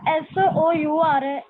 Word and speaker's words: sour: Ma'am ਜਿਹੜਾ word ਲਿਖਿਆ ਹੋਇਆ SOUR ਇਹਦੀ ਪ੍ਰੋਨਾਂਸੀਏਸ਼ਨ ਕੀ ਹੈ? ਬੱਚੇ ਸਾਵਰ, ਸਾਰ ਵੀ ਬੋਲ ਸਕਦੇ हैं ਇਹਨੂੰ, इंटरनेट कनेक्शन फिर हो गया सार, ਇਹਨੂੰ ਸਾਰ ਵੀ ਕਹਿ ਸਕਦੇ हैं but correct pronunciation is sour.